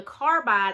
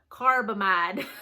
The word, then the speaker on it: carbamide: For the carbide, I always get it mixed up. Carbamide. I always never say it right.